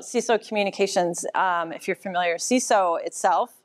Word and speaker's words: CESO: If you're familiar, CESO itself, pronounced CESO, Center for Effective School Operations, we basically help on the operations side of school districts.